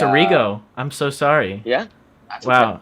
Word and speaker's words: Errigo: Well, my name's Errigo Jr., and Oh, it's Arrigo.